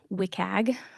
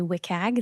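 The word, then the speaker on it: WCAG: these web content accessibility guidelines often it is pronounced wiag very lovely acronym but if I say wiag this is what I'm talking about it is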